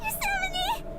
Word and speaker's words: Yosemite: Yosemite! What? Yosemite! Yosemite? That's how it's pronounced?